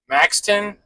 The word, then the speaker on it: Maxton: It is two palletized coils and then that's going down to Maxton, North Carolina. That's how you pronounce it.